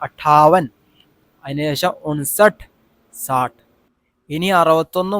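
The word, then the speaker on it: अट्ठावन: എന്ന് പറഞ്ഞാൽ കൂട്ടണം ഓക്കേ ഈ രണ്ടുവട്ടം ട വരുന്നുണ്ട് അപ്പൊ അട്ട ഠ എന്ന് പറഞ്ഞു അട്ട ഒറ്റയടിക്ക് ഒന്നല്ല രണ്ടുവട്ടം റിപ്പീറ്റ് ചെയ്യണം അതായത് രണ്ട് ലെറ്റർ ഒന്നിച്ച് ഒന്ന് ഒരു ഉച്ചാരണമാണ് അപ്പൊ നമ്മൾ കട്ടികൂട്ടി വായിക്കേണ്ടത് അട്ടാവൻ അതിനുശേഷം ഉൻസട്ട് സാട്ട് ഇനി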